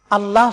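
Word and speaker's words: الله: এটাকে বলতে হবে আল্লাহ মোটা করে লামকে উচ্চারণ করতে হবে অনেকে আযান দেন বা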